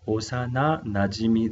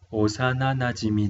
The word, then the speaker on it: 幼なじみ: Pronunciamos Osana Najimi des. Osana Najimi des.